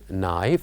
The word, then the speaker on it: knife: word is knife and we said that knife has one silent letter knife has one silent letter